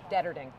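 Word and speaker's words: Deterding: And proper pronunciation for that? Detterding. Detterding, gotcha.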